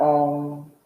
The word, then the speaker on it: Om: We'll bring the hands together in prayer at the heart and begin with one chant of Om, the 3 syllables Ah, O, and together.